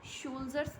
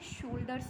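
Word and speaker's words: soldiers: One more thing, शोल्जर्स बोलते हैं, शोल्डर्स नहीं बोलते हैं। प्रोनाउंसिएशन में शोल्जर्स होता है, कई बार मैंने देखा है लोग शोल्डर्स बोलते हैं। Correct pronunciation is सोल्जर्स, okay, शोल्जर्स, ये करेक्ट प्रोनाउंसिएशन होता है।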